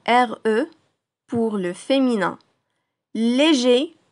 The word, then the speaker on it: léger: Léger, sans prononcer le R pour le masculin, légère, c'est le nom commun au féminin.